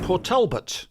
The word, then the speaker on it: Port Talbot: for you Caroline's in Port Talbot that's how you say it but Albert patalbert patalbert